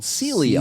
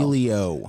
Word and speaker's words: Sileo: One of the best medications that's out there, and it's not hardly sedating at all, it's called Celio. Celio. So write that down, Celio, S-I. Sileo. Celio. Spell it again, Jordan.